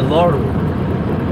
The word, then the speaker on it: Lauru: in the Etruscan culture that we call the Lauru. It's spelled L-A-U-R-U, the Lauru.